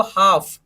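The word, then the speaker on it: half: नहीं बोलना थर्ड देखिए इसको हाफ हा ए ल एफ साइलेंट हो गया एफ से पहले क्या का रहा है ये एफ से पहले का लब क्या हो जाएगा साइलेंट हो जाएगा तो उसको हमने साइलेंट करके तो सिर्फ क्या बना एफ पढ़ने में क्या आएगा फ क्या बनेगा बोलो हाफ क्या बनेगा हाफ हाफ का मतलब क्या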